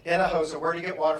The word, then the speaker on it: Hinojosa: Hinojosa, everybody practice really quick. How do you say my name? Hinojosa.